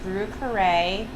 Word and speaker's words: Brieux Carre: you could go to our website which is brew carray and we spell it in the new orleans fashion b-r-i-e-u-x c-a-r-r-e